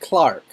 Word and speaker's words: clerk: to pronounce things it's spell clerk but it's pronounced clark right right i got the yeah you got